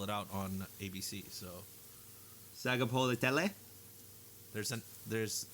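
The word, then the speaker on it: Sagapolutele: So Sagapolitele? There's think of it like a half silent N between the A and the G.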